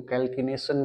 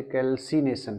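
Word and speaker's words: calcination: कुछ जगह पे कुछ हाई क्वालिटी के लोग इसको कैल्किनेशन भी कहते हैं ना, मेरे हिसाब से कैल्सिनेशन है, क्योंकि कैल्शियम, इस हिसाब से तो ये कैल्कियम होना चाहिए, तो मैं तो इसको कैल्शियम ना सॉरी कैल्सिनेशन प्रोनाउंसिएट करूंगा, बाकी डिपेंडिंग अपॉन द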